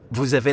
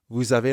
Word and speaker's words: vous avez: Because vous ends in S, we have a liaison between vous and avez.